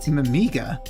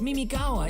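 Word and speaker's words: Mimigawa: to he's going to be mimiga my mistake it's Mimi gawa isn't it what you're adding extra syllables no need to shout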